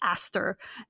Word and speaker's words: Astir: sometimes for characters like Astir. Like the proper pronunciation of that is like Aster, and like that's an actual person's name, and I just kind of messed it up.